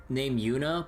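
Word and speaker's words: Juna: Like, again, like in fucking Trails of Cold Steel 3, you have a character named Yuna, but spelled J-U-N-A.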